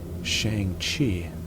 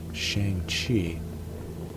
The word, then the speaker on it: Shang-Chi: I always pronounced it Shang-Chi, but in the movie, he pronounces his own name as Shang-Chi.